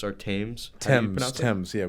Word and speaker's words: Thames: the river Thames or Thames. Thames. Yeah, we don't pronounce the th. So it's one of the, it's like Thomas. You don't say Thomas. Okay. And that's the best way I can describe it.